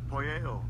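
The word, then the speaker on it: ποιέω: Alright, I'm gonna let y'all brothers hear the pronunciation. Strong's G4160. Poyeo.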